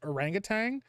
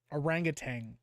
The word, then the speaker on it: orangutan: learn how to pronounce orangutang I there's only so much I can do orangutang orangutan it's not pronouncing it rangang um rough says Number